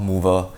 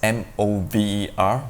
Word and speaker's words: Möwe: Last company I'd like to share is called Mover. This is a German name with that special O character. I was told to pronounce it as M-O-V-E-R, Mover.